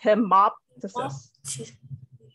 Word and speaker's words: hemoptysis: The P actually go with the O. So it's hemoptysis.